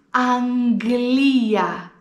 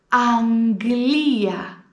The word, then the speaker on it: Αγγλία: Βλέπεις ότι αυτή η λέξη έχει 2 γάμα. Αλλά εγώ πρόφερα Αγγλία και όχι Αγγλία, όπως προφέρουμε συνήθως όταν έχουμε 2 γάμα. Όταν λοιπόν έχουμε 2 γάμα στη μέση της λέξης, τότε τα προφέρουμε γ, Αγγλία, Αγγλία.